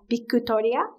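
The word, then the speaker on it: ビクトリア: name in japanese is bikutoria that's how you pronounce it in japanese so my friends at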